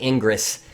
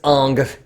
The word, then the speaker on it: Ingres: Jacques dominique Unger I know it looks like ingress its Unger don't be angry at me for the hair pronounce it let's say okay so on the